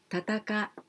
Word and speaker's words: 戦い: studying Japanese, 戦い, well, this kanji we only pronounce tataka. Then we need furigana I, tatakai. So if we are studying Japanese and if you are going to do your test, please be careful. Tatakai, not like this.